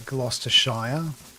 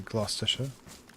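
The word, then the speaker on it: Gloucestershire: Uh like Glostayire should be Glostisha or Glouester.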